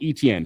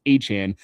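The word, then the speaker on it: Etienne: Remember, he he corrected us all in the pronunciation name. Not ETN, Travis Han.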